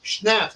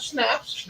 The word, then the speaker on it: schnapps: the power of the people they have honey schnapps did you know that it's not honey how do you pronounce the stop stops not snaps it's not a cracker it's an eight naps